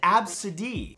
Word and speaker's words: Abcde: The name is pronounced absid.